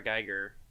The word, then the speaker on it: Giger: it's isn't it really influenced by H R Giger that's how you pronounce it which is just a artist who